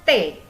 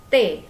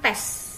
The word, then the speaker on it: tes: Dibacanya T. T, bukan tes. Oke, dibacanya T. S tidak dibaca.